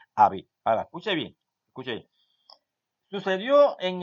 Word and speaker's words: Abib: Es abril, pero se pronuncia, porque así se escribe, Abib.